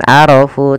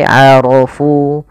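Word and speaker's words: عَرَفُوا: Aro rya tebal bukan arofu tapi arofu. Karena dia ro berharakat fathah maka dia tebal.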